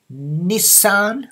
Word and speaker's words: Nissan: The motor company Nissan. Okay, in English this is two syllable. Nissan. Okay, Nissan. Nissan Motor Company. But in Japanese, it's how many? Nour four more sound.